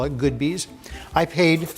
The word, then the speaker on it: Goodbyes: on Sacramento Street, and I call it Good Bees. It's spelled G-O-O-D, and I have to give this plug for them. They don't pay us to do this, but it's G-O-O-D-B-Y-E-S, so a lot of people say goodbyes.